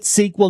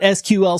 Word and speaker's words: SQL: And yes, I'm pronouncing it SQL, not SQL, so just deal.